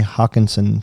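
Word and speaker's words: Hockenson: for me is i am a big tj hawkinson fan that's how you pronounce it but yeah um i don't see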